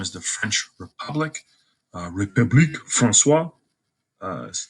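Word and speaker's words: République française: Its official name is the French Republic, République Françoise.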